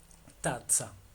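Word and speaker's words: tazza: Tatza. Tatza. Como si fuera pizza.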